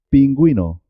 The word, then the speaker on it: pingüino: cigüeña con día decir guitarra no lleva diéresis pingüino con diéresis atención recordad la b y la v se escriben de forma diferente pero suenan igual vino